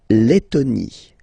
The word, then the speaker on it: Lettonie: La Lettonie. So remember when you've got this and then a double letter like that, T, okay, then you will have to open your and it will become Lettonie.